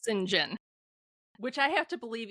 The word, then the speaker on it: St. John: John, but it's pronounced singing, which I have to believe even in 19th century England was an exceedingly odd name, but there we have it. Um, so Singen is preparing to become a missionary to India.